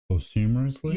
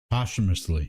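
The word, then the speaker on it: posthumously: Post humorous humorously. Post post humorously. Yes. Postumously. Postumously. Thank you.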